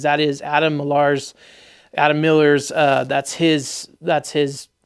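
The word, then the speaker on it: Milar: it's Adam marar but it's m i l a r um I guess it's still pronounced Miller because I talked to him he's it's a Scottish thing it's it's a Scottish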